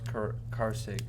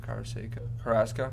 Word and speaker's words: Carrasco: Yankees Indians matchup: Mashiro Tanaka and Carlos Carrasco. How do you say his last name? Carrasco.